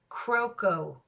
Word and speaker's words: Kuroko: make sure he got it correctly and it's pronounced croco croco here's his favorite anime character y'all know